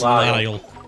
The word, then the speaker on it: Lisle: For some reason, I always thought it was Grey DeLacy. It's Lyle.